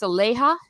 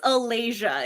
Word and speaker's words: Aleja: when i say it's aleja no it's alasia it rhymes with malaysia if that helps okay i was doing